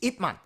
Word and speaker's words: Ip Man: yes, but when they say it in Cantonese, it's Ip Man.